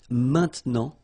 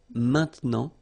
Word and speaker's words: maintenant: Normally we tend not to pronounce this E, okay? So we get this maintenant, maintenant.